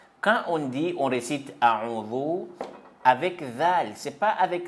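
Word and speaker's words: أعوذ: Quand on dit, on récite A'udhu avec Zal, c'est pas avec Zaï. Bon. On prononce comment? On prononce A'udhu billahi minash shaytanir rajim. A'udhu billahi minash shaytanir rajim.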